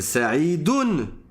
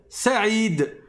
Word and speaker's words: Saïd: En réalité, il s'appelle Saidun. Ou bien dans la phrase, en fonction de la sa position grammaticale, on va dire Said ou bien Saidin. Mais comme je m'arrête dessus quand je l'appelle, ben je vais dire Saïd et je vais prononcer avec un sousun en fin de mot.